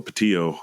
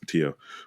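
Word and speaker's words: Pattillo: her name is Melba Patillo. I believe that's the way it's pronounced, Patillo.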